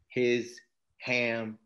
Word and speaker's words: Hisham: shall you spell it h-i-s-h-a-m and I'll tell you a joke that lets people really remember his ham and I say that